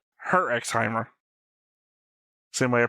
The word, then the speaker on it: Herxheimer: It's Herxheimer. Same way I pronounce like shows like Hunter x Hunter. Spy X Family. Herxheimer.